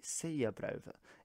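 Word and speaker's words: Sauðabréfið: It's a very interesting letter, and actually its name is the Seyabrova in modern Faroese, whereas at the time it might have been pronounced more like Salvabrefit. So you can see that the sounds have shifted quite a bit since the time of Old Norse being spoken in the Faroe Islands.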